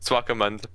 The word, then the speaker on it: Swakopmund: Like you could get Uh, Delagoa and maybe how do you pronounce it? Swakopmund? Swakopmund.